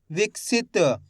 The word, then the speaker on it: विकसित: आपको बताता हूं और यहां पे सित सित का लास्ट वाला अक्षर हो गया ता तो यहां पर आधा उच्चारण कर देंगे अपना आप ही शब्द